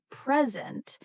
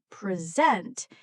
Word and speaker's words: present: For example, the word present can mean two different things depending on stress. If we stress the first part present, it means a gift. But if we stress the second part present, it means to give a talk.